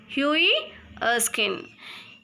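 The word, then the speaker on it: Hughie Erskine: this is a story of hii oin the pronunciation is Hui Eskin he was a young good-looking man and he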